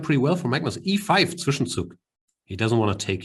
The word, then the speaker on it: Zwischenzug: As German is my first language, and Zwischenzug is a German word. I choose to pronounce it correctly.